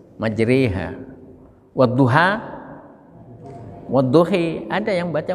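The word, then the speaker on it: مجريها: Tulisannya majroha, ya, tapi bacanya majre, re, bukan ri, bukan ru, bukan, tapi re, antara kasroh dengan doma, re, majreha.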